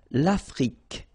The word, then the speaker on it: Afrique: L'Afrique, same thing here. Final E, it's only the K at the end that you will hear. L'Afrique, okay?